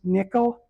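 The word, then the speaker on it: NCCL: It's pronounced nickel.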